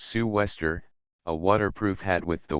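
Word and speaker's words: sou'wester: the lead and line southwester pronounced Sue Wester a waterproof hat with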